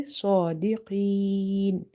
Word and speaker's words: صادقين: And in the word sadiqeen, sod is heavy because it's from the heavy letters, musta'aliya letters.